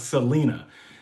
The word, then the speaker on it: Selina: The best hostel in Central and South America is called Selena. That's spelled Selina.